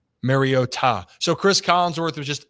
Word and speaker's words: Mariota: I just figure out it that is how Marcus pronounces it. Marota. Marota. Mariota.